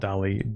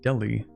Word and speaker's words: Delhi: Not Deli, Delhi.